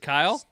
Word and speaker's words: Kyle: To the rest of the English-speaking world, it is one syllable.